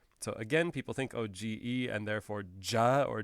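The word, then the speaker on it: げ: again people think oh g e and therefore ja or j like gem or something but it is not it is only the ge as in get and that is the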